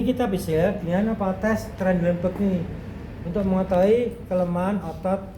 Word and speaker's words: Trendelenburg: Bacanya Trendelenburg.